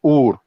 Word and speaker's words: Ur: It's not pronounced it's pronounced Ur. Ur.